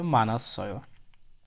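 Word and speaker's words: 많았어: তাহলে উচ্চারণটি হবে মানাশ্রয়। মৌমের সাথে আ, তারপরে বাচ্চিমের ডাবল বাচ্চিম আছে, প্রথমে যেটি আছে নিহুন সেখানেই থাকবে, হিউতটা উপরে চলে যাবে, অ উচ্চারণ হবে মানাশ্রয়।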